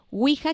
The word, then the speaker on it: Ouija: y agua a la dobló la verdad no ouija que es we decía hija siguen alemán mujer esa es como se escribe correctamente ok en españa la empezaron a